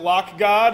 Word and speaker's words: lock.gd: this address x.lock.gd x.lock.gd lock.gd i pronounce it lock god it's my personal url shortener you pronounce it however you like but that's where the